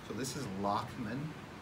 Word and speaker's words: Lachman: restraints are there all right so this is Lachman it's like latch meant but it's pronounced locked most of y'all are pretty stable if you